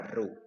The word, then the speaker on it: rho: Ini bacanya rho.